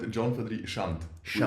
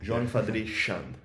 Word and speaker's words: Gion Chande: Yeah, you call it Gion Chande. Without the E. Gion Chande.